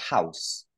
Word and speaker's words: house: You have a house. Donc là, aspirer, un H aspiré comme tu l'as bien fait tout à l'heure avec have, house.